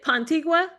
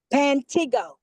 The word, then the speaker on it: Pantigo: Pantigua? Pantigo. Pantigo. It's That is Pantigo. Pantigo. Like it's like pronounced like Mantigo. You say Pantigo with a P.